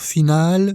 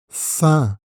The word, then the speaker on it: faim: Fin, avec la nasale un. Fin. Donc la combinaison A-I-M forme un seul son. Un. Tu ne dois pas prononcer le M.